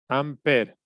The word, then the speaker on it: ampere: corriente son amper está esto es amper se escribe ampere y se conoce como